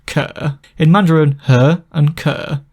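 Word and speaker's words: 可: The water on the left side gives the meaning shui, but the sound component in Mandarin is pronounced ke.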